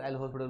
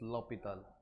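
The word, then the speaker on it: L'Hôpital: Also मिसप्रोनाउंसिएशन, है ना, उसको मिसप्रोनाउंसिएशन होता है, उसको एल हॉस्पिटल रूल बोलते हैं, ठीक है। बस उसका यूज कर देना है, ठीक, क्योंकि देखो 1 यहाँ पुट करने पर एक्चुअली उसका जो वो फ्रेंच वर्ड है, तो दैट्स करेक्ट प्रोनाउंसिएशन इज लॉपिताल, ठीक है। वो हमने इंडियन वर्जन में उसे हेल्प बना दिया, ऐसा कुछ हॉस्पिटल नहीं है, दैट्स लॉपिताल, है ना, dedicated to a mathematician, okay।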